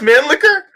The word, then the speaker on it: Mannlicher: Man liquor. Sorry. Man, really? It's pronounced man liquor?